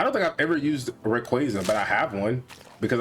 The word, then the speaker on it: Rayquaza: But I think they just came out and said that it's actually pronounced Rayquaza.